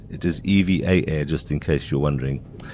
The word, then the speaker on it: EVA Air: Uh, I've always liked Evva. It is EVA air, just in case you're wondering. I've always mispronounced it.